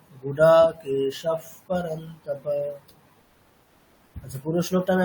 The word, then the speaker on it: गुडाकेशः: পকার থাকলে বিসর্গের উচ্চারণটা ফকারের মতো হবে, তাই তো? এরকম বলা হয়েছিল। দেখবেন এই স্টার্টিং উচ্চারণগুলো একটু খুলে খুলে দেখবেন, ওখানে আছে সব। তাহলে কেমন হবে? गुडाकेशः परन्तप। গুড়া কেশাফ, এরকম, মানে ফকারের মতো আর কি।